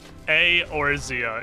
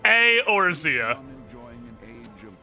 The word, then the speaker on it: Eorzea: Eorzea. It's 2 syllables. 2 syllables in the beginning, I mean. The E and the E is its own syllable. Eorzea.